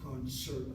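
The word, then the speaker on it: קונצרט: It is a borrowed word. Concert in English, concert in Hebrew.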